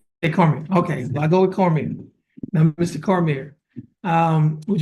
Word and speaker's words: Cormier: is carier or Cormier how you pronounce it uh Cormier Cormier yes well how do you I mean